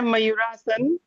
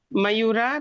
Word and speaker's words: मयूर: बोल रहे है लेकिन आपका उच्चारण सही कीजिए मयूरासन मयूर मयूर प्लस आसन मयूरा नहीं मयूरा नहीं होगा मयूरा जी मयूर तन र के अंत